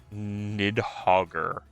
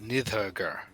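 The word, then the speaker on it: Níðhöggr: The R is the nominative ending.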